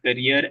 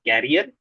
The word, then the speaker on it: career: One is Toastmaster Tulin mentioned career as carrier. It is pronounced as career.